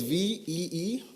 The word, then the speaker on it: VEE: And then there's VEE, just pronounced V.